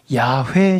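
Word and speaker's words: 야훼: 할까요 야외 시나 아 야외는 히브리 사람들이 자기네 발음으로 여호와 하나님을 부르는 말이 우리는 여호와 이렇게 성경을 한국말로 번역이 되었는데 아 야외 라고도 하죠 야외 신앙이라는 히브리 사람들이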